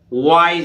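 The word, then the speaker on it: wise: देखिए डब्लू के आगे वा, डब्लू से वा बना, आई से आई, और एस ई से जा, तो वाइज, वाइज, वाइज माने विद्यमान।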